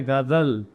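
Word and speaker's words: ग़ज़ल: गा से गणेश लिखा है, गणेश, लेकिन हिंदी वाला है, ये गा नहीं है, ये गा है, ये है गजल।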